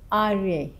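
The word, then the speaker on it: ariya: But whatever the spellings it is, try to pronounce it Arya. Yes, so you can correct others also. That is how it's in the Pali.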